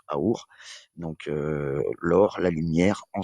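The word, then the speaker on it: אור: Or veut dire lumière en hébreu donc et qui se prononce àour.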